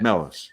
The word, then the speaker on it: Melos: Melos. Is that how I pronounce it? Yep. Just MELOS.